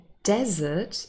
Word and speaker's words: desert: syllable if we say desert and we stress the first syllable yes we do pronounce